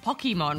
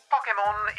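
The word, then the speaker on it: Pokémon: Pokemon is short for pocket monsters, so the correct pronunciation would emphasize the pock from pocket.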